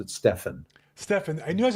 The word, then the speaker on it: Stephan: some Realtors and one of them is Steven uh thank you for joining us today well thank you so much Bill could Ju Just I point out that I pronounced it Stefan Stefan I knew I was G get it